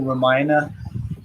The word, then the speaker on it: Ramayana: The Ramayana is how that's pronounced.